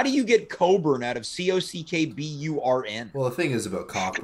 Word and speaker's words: Cockburn: i'm going to say it's actually pronounced coburn i think he could